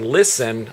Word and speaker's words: listen: And they say, well, the T is silent. Right. You know, so they would come back at me and say it's silent. But their reasoning is that when they had listen on a spelling test,